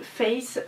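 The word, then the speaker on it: Faith: J'ai commandé la perruque de Face, donc qui s'écrit F-A-I-T-H, et c'est ma Pulip Xiaofan.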